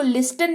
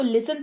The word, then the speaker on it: listen: इसको लिस्टन नहीं, इसको लिसन पढ़ते हैं, जिसका मतलब होता है सुनना।